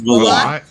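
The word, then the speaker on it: Valotte: It's Velote. It's Velote. Okay. I don't think I've ever pronounced it correctly in my whole freaking life. 2 T's makes the E silent. Velote.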